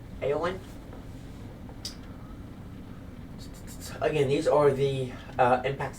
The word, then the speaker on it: Éowyn: Again, it is pronounced Éowyn.